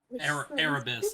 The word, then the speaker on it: Erebus: Erebus, like Cerebus.